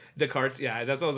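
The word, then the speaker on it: Descartes: to say it correctly the carts yeah that's I was like it's either desarts or because I know they don't really like pronounce like the last few letters Sobe it's the I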